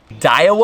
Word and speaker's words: Daiwa: on a brand new dial uh is how you say it Daiwa Rev Rose just